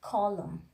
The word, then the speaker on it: column: And you know, normally we are not pronouncing letter N if the position of the letter N is just after the letter M. The examples are here: column, dam, solemn, autumn. If you see carefully, all